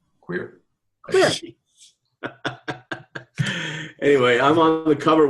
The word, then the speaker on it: Kwir: It's called KWIR. Queer.